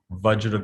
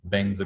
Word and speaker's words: Vajra: In Sanskrit, his mantra is Ong Ahong Vajra Guru Padma Siddhi Hong, which the Tibetans have a different way of pronouncing. Ong Ahong Bengza Guru Padma Siddhi Hong.